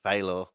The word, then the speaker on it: Faylor: That was our Autism Winners Hard Charger Award winner, Thad Faylor. And just before we started talking, I was asking him for pronunciation since I've been calling him Fella this whole time.